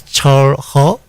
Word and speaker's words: Chul Heo: like full name all right my name is char ho chor what does that mean uh char means